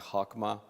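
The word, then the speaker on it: חכמה: range of it there the Hebrew word I'm told is pronounced something like hakma it means so much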